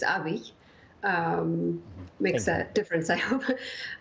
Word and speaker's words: Abiy: It's not Abiy, it's Abiy.